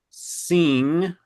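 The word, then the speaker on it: sim: Yeah, it's it's singing spelled s i m sing pronounced. I don't have a good pneummonic device for you, but it's somehow pronounced like sing kind of a bit like that.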